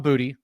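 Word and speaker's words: Boutte: talk about one kaan booty and that's how he pronounces it I had to look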